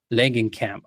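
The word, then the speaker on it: Langenkamp: Langan, do you remember how to pronounce her name? Len Camp. Langen Camp.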